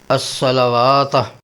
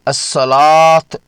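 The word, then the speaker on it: الصلاة: اصول نوٹ فرما لیجئے، اس لفظ کو پڑھتے وقت واو کی اپنی آواز بالکل نہیں نکالی جاتی بلکہ اسے الصلاۃ پڑھا جاتا ہے۔ واو کے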